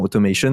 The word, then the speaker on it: automation: Peut-être que durant cette présentation, je vais alterner entre flow, séquences automatisées, automation, qui se prononce normalement automation, vu que c'est le terme anglais, mais au moins c'est clair pour vous.